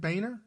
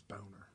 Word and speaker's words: Boehner: Is it Boehner? That's how we pronounce it. Oh, I thought it was Boner. You could say Boner.